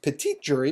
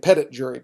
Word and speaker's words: petit jury: a Pettit jury because it should be pronounced petit jury because it's French it should be the